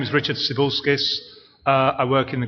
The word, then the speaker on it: Cibulskis: My name is Richard Cibilskis.